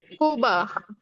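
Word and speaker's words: Cuba: কুবা। হ্যাঁ, কুবা। কুবা, কুবা মানে কোনটা স্যার? কিউবা, কিউবা, কিউবা, কুবা মানে কিউবা।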